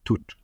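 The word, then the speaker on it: Thoth: representations the Egyptian gods th of course is a Greek pronunciation of Toth or toot and you will recognize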